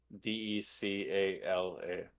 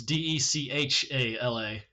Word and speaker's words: Dechala: How do you spell it? Decala. No. All right, cool. You put it right. You got close though. I'll give you that. You were one letter off. Is it Decaula? It's Dechala.